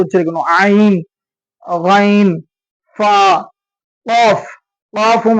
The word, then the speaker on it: ق: காஃபும் அடி தொண்டையில இருந்து எடுத்து சொல்லணும், காஃப்.